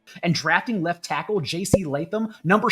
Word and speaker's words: Latham: and drafting left tackle J.C. Statham, number 7 overall. I mispronounced Latham's name. Let me do that one more time. And drafting left tackle J.C. Latham, number 7 overall.